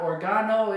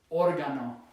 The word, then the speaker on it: órgano: So it's not organo, it's órgano, el órgano.